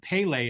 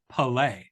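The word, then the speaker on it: Pelé: and I've learned now it's not Pele it's Pele you know because the the accent is on the second knee and so Pele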